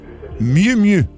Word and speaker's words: Miu Miu: En tout cas, on poursuit avec Miu Miu. Mieux. Miu Miu. Ouais, ben Miu. Non, ben c'est M-I-U. Ça se prononce-tu Miu?